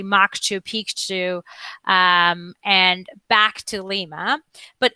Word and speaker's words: Machu Picchu: which by the way we actually need to pronounce it correctly moksha Pikachu and back to Lima but if you're interested